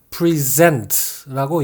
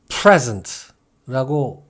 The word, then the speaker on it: present: 주다, 건네다, 제시하다는 뜻을 지닌 동사로 쓰일 때는 present라고 읽습니다. 반면에 선물을 뜻하는 명사일 때는 present라고 읽고요. 똑같은 명사지만 현재, 지금 이런 뜻으로 쓰일 때는 present라고 또 읽습니다.